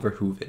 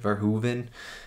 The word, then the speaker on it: Verhoeven: been four movies now i heard someone in the comments said it was like ver hoove and like hoover damn right so i'm just